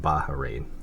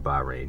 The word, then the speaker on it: Bahrain: flag it's actually pronounced baharin I'm sorry if I keep saying bahin you got to kind of stress the H in it um bahrain's flag is